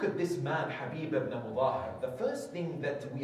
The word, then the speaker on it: Muthahir: the name of the father of HABIB is Mazahir. There is no evidence for that. Yes, it is Mudahir. The correct pronunciation of his name is HABIB ibn Mutahir, according to the majority of our scholars and historians.